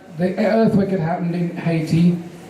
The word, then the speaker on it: Haiti: The earthquake had happened in Haiti, or Haiti as I say, 3 syllables, Haiti, African word.